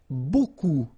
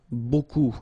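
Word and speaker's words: beaucoup: you want to use Buu Buu means a lot of it look it looks a bit strange Buu like that remember you don't pronounce the final P okay and then you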